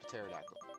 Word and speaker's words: pterodactyl: You don't say pterodactyl. The P is for punctuation or something, to make it look cooler. It's like a kid made this. PeliezSpeak. I just gotta remember that P is silent.